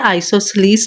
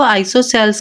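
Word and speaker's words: isosceles: First type है scalene triangle, second है आइसोसेलेस triangle, कुछ बच्चे इसको आइसोसेल्स कहते हैं बट इसकी जो सही प्रोनाउंसिएशन है वो है आइसोसेलेस, और थर्ड हमारे पास है इक्विलेटरल ट्रायंगल।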